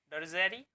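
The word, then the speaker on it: drudgery: जो हमारा next word है वह है ड्रूजेरी। ड्रूजेरी, ड्रूजेरी पार्ट ऑफ स्पीकिंग नाउन है दोस्तों। दोस्तों यहाँ पर डी है, जो सेकंड वाला जो डी है ये साइलेंट रहता है यहाँ पर, ठीक है।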